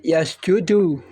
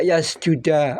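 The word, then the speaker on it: يَسْجُدُ: Nahwu mengerti kemudian ini dibaca dengan yasjudu Kok tidak yasjuda atau yasjudi ini ahlias Nahwu sab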